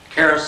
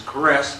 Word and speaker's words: Caress: way frontwards and backwards Caris sometimes is caress to some members of the family but we normally call it Caris around Crawfordville and other